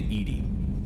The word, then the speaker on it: EDI: Why are you named EDI? EDI is the phonetic pronunciation of EDI.